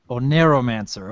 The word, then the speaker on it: Oneiromancer: The name it's pronounced TheOneiromancer. Oneiromancer, okay.